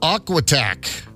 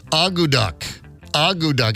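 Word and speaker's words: akutaq: guy's head off all right here we go aquac or I'm sorry let me repr pronounce that I was way off I got to look at the phonetic pronunciation audu audu it's spelled AK T A Q I know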